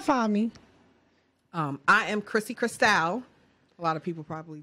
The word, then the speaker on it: Cristal: I am Chrissy Cristal. A lot of people probably just pronounce that incorrectly. Chrissy underscore Cristal. Cristal like champagne is spelled C-R-I-S-C-A-L.